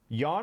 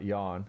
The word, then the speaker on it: Jan: his name up and it's spelled j-a-n so we pronounced it jan and that's a reference to that i know it's yawn now because it's german but uh in this